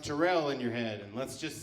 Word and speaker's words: Terrell: care my name is Terrell he did pronounce that correctly doesn't always happen have you read my name it's pronounced Terrell in your head let's